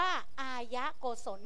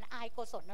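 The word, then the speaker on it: อายโกศล: 3 อย่าง อย่าง แรก อย่าง แรก อ่าน ว่า อายะโกศล ไม่ อ่าน อายโกสลนะ ลูก ตาม หลัก การ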